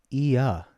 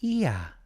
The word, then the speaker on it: Ia: Heidi says it's pronounced Ia. Yeah. My name is Ia.